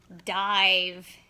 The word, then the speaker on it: dive: Dive. D-I-V. What's at the end of the word? The E. So the E is going to reach over, make the I say I.